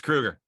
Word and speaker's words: Kroeger: stops the whole interview and he goes it's kruger and i sort of looked over jerry i